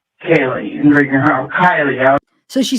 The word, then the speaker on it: Kiely: Kylie. So she says she's a big presence at the party. And then she pronounces her name wrong. Kaye.